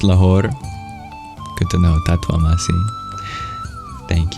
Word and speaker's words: Lahore: so close only steps away is it just pronounced laor good to know tasi thank you so used